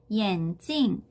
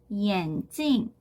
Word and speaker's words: 眼镜: 자, 그래서 함께 쓰이는 어휘들을 한번 정리를 해보면 眼镜, 眼镜. 자, 이 眼镜이라고 하는 단어는 안경이라는 뜻이고요. 뒤에 사성으로 찡으로 발음되는 거에 좀 주의를 해주셔야 돼요. 왜 그러냐면 眼睛이라고 하는 뒤에 경성으로 발음이 되는 단어가 있어요.